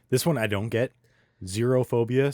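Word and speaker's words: xerophobia: one I don't get zerophobia spelled with an x x e r o zerophobia or afid of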